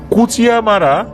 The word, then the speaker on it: কুচিয়ামোড়া: উনি পেশাগত কারণেই কুচিয়ামারা বা কুচিয়া মোরা দুইভাবেই মানুষজন এটা উচ্চারণ করে আর কি।